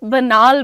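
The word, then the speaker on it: banal: अ आयुषी पांडे बनाल की spelling is बी ए एन ए एल बनाल बोलते हैं उसको घिसीपटी बातें।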